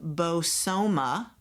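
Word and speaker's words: Bozoma: Her name is pronounced Bosoma, so it's Bosoma St.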